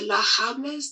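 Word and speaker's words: La Diablesse: Some people call her La Hables. They're just, I guess the D is silent.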